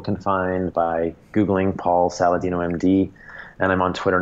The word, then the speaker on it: Saladino: you know MD com my last name is spelled like salad and dinosaur sa la di and Oh Paul Saladino com is my website